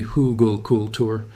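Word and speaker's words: Hügelkultur: It's a German word, pronounced roughly Hugelkultur, and it refers to the practice of burying logs, branches, and woody debris under your planting beds.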